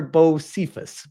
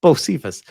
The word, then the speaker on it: Bocephus: It's pronounced Bocephus. Bocephus.